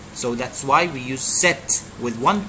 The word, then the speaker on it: cet: We can't say ce followed by a vowel. It will be a problem when you pronounce ce followed by a vowel. So you need to put a consonant in between to separate the two sounds.